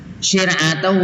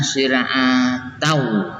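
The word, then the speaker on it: شِرْعَةً: Syir'atan wa minhaja itu dibaca idgham bi gunnah syir'atau, tidak dibaca syir'atan ya.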